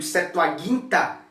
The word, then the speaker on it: Septuaginta: a estudar a Septuaginta, ou pronunciada do grego Septuaginta, porque o gama não tem som de J, né?